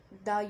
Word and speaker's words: the: दा को हम दा तब बोलते हैं जब जो वर्ड्स की जो प्रोनाउंसिएशन है वो कॉन्सोनेंट साउंड्स में होती है, राइट।